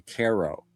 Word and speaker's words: Cairo: It's supposed to be Caro.